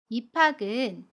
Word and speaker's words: 입학: 입학은 입학이라고 발음합니다. 받침 비읍과 첫소리에 오는 자음 히읗이 만나면 비읍이 히읗 자리로 가서 피읍으로 발음해요. 거센 소리 되기 현상입니다. 그래서 입학이라고 발음해요.